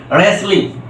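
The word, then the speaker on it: wrestling: এই যে দেখো ডাব্লিউ টা কি হয়ে গেছে সাইলেন্ট হয়ে গেছে আর এই যে আর থাকার কারণে এই আর টা কিন্তু উচ্চারিত হয়েছে রেসলিং রাইট এখানে দেখো রেসলিন কিন্তু উচ্চারিত হয়েছে কি এই যে আর টা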